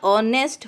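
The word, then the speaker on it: honest: नेक्स्ट ऑनेस्ट बॉय, यहाँ पे देखना है आपको एच क्या है, एच साइलेंट है, इसको कैसे पढ़ा जाएगा, प्रोनाउंसिएशन कैसे होगा, ऑनेस्ट होगा, तो स्टार्टिंग में क्या आ रहा है, अ, और अ इज वोवेल, ओके।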